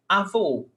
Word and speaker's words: avô: So when we have this accent mark, acento agudo, it has an open vowel sound. O. When we have this accent mark, we have a closed vowel sound. O. O. So we change the sonority. Avó, grandmother. Avó. Avô, grandfather. Avó, avô.